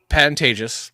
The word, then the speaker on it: Pantages: me from wrong life it's a p Pantagis Pantagis it's always they say it wrong all the time it's Pantagis of course it's Pantagis uh it's a vantageous